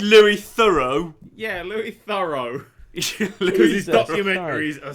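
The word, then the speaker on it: Louis Theroux: Mafia 2 Mafia 2 you sound like Lou theu trying to th I you mean Lou thorough yeah Lou thorough documentaries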